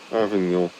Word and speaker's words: Avignon: Avignon.